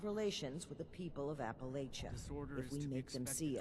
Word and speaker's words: Appalachia: Because it is pronounced Appalachia. Like Bethesda says it's Appalachia. Even though in real life the mountain range is called the Appalachians.